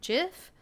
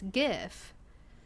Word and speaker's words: GIF: jiff that's fine the the person who created jiff says that it's gif you know if that's how i would pronounce it because that's what he says but if the new generation is constantly pronouncing it as jif i'm not here to correct them i will let them know hey this person who created this said it's pronounced gif but i'm not i'm